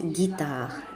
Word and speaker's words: guitare: G avec U, ça se prononce guitare, guitare, guitare. Donc, il y a plein de mots dans lesquels on peut trouver la lettre G associée avec la voyelle U pour réaliser le son G.